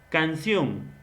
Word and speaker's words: canción: Esta de canción, donde lleva la mayor pronunciación en sion.